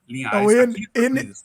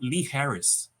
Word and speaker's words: Linhares: criado um problema porque ninguém consegue pronunciar Linhares ele h não tem como falar né não tem jeito e proriental é difícil pro americano aqueles falam Lee Harris ah imaginei que vocês